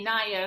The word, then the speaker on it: Anaya: is it means purpose it's pronounced but we say naya because that's prettier my mom liked that better you know i'm saying